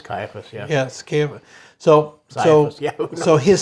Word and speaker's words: Caiaphas: And they led him away to Annas first, for he was the father-in-law of Caiaphas, who was high priest that year.